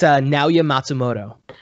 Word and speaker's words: Naoya Matsumoto: Could you pronounce the creator's name for me, please? It's Naoya Matsumoto.